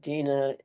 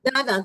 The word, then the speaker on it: Dana: Die jüngste Frau beim Interview, the youngest woman in the interview, Dina Yudovich Katz. Dina Yudovich Katz. Dana. How do you say it? Dana? Dana, that's her name. Her name is Dana.